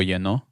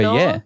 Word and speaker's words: lleno: Like lo lleno.